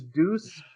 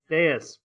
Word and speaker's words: Deus: Deus. Prometh. I always call it Deuce. I know I say it wrong. I'm sorry. Oh, okay. Deus Prometh. Because a deuce is something you leave behind in the toilet.